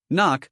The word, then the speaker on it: NOC: Knock, pronounced knock.